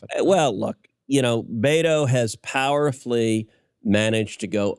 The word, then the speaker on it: Beto: i i always refer to his name as beto so his name is robert francis he uses the nickname there is a spanish nickname uh for robert which is bethel and he likes to pronounce it beto my view some irish dude is not betel